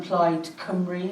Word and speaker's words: Plaid Cymru: Along with the eight Labour PCCs and one Plaid Cymru, is that how you pronounce it?